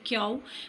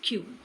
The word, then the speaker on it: Q: Here again I want to emphasize that mostly people say cow but it's wrong. Correct pronunciation is Q.